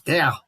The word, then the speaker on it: der: uno example was always d e r okay and german is there in dutch it's da and i had i